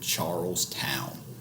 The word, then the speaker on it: Charles Town: founded the city of charles town which would be pronounced and typically treated as two separate words throughout the 16 and 1700s only eventually transforming into charleston many of these settlers